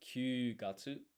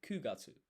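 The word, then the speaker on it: 九月: So, you wouldn't say kyuugatsu. Uh you would say kugatsu.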